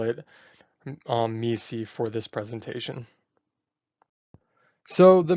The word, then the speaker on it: MECE: Now we'll be going over mutually exclusive, collectively exhaustive, also known as MECE. Now I do want to point out that the creator of MECE, Barbara Minto, pronounces it as MECE.